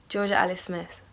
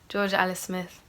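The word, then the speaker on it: Jorja Alice Smith: so pizza from Houston said how do you pronounce your full name with the proper hometown accent Georgia Alice Smith that's my name and yeah things nothing yeah Georgia Alice Smith that's how I pronounce my name mmm Ilyana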